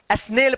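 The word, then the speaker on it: snail: एन ए आई एल स्नेल क्या पढ़ेंगे इसको स्नेल पढ़ेंगे यानी ए के बाद वाई रहे या आई रहे दोनों का उच्चारण ए आप करिएगा इसको आप मैड मत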